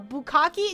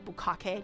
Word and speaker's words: bukkake: The pronunciation is bukkake, not bukkake.